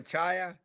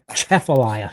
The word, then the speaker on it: Atchafalaya: Appalachia Appalachia Atchafalaya. It's a Atchafalaya. So, you want to say it like you're You want to say it like you're about to sneeze. So, it's uh, Atchafalaya.